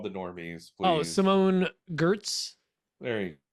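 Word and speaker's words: Giertz: Oh, Simone Gertz. There you go. It's pronounced Yetch because she's Swedish.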